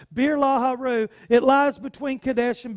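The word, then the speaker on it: Beer-lahai-roi: 14 before our therefore the well was called birla Heru it sweats pronounced Birla Haru it lies between kadesh and bered so beer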